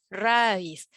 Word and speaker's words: raíz: palabra aguda muy bien porque se pronuncia fuerte en la última sílaba raíz vamos a recordar regla